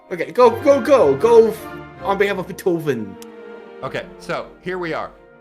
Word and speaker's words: Beethoven: It's pronounced Beethoven.